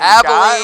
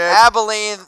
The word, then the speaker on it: Abilene: And Abilene. You got it wrong, Mitch. Abilene, rub some Maybelline on me.